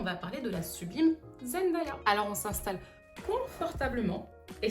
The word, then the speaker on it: Zendaya: Zen z e n day d a y a. It's very phonetic and a lot more boring than I bet you thought it was.